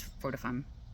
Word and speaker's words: fortuitum: Also, you may hear it pronounced as Fortifum, Fee Fi Fo Fum, doesn't matter.